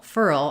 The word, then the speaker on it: furl: and then feral feral so with furl furl I don't really have two syllables there I do need to say it furl um when I'm saying it smoothly but to slow it down you can make it more like two syllables in feral feral we